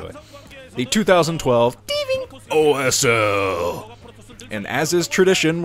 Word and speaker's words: Tving: And yes, you have to pronounce it like that. I looked up a Korean commercial for Tving, and they only said it in the most adorable ways possible, so that's how I'm going to do it.